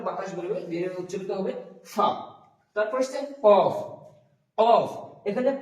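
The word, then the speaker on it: ف: তারপর আছে ফা, ফা উচ্চারণ করার সময় আমরা করব ফা, ফা।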